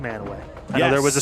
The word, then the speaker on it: Mantua: down uh down with the crowd it is pronounced manway I know there was a story on Fox8